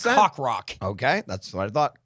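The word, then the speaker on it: Coq Roq: can they do that it's spelled CQ R oq yep but it sounds like cock rock which is sounds like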